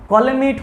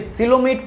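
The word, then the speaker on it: coelomate: भाई मेरे इसको कॉलेमेट नहीं पढ़ेंगे, सिलोमेट पढ़ेंगे, क्योंकि यहाँ पे आपका जो प्रोनाउंसिएशन है या फिर जो मीनिंग लिखा हुआ है वो क्या है सर, गलत है। तो आप थोड़ा सा यहाँ पे मैनेज करेंगे, इसको आप सिलोमेट पढ़ेंगे तो तीसरा ऑप्शन भी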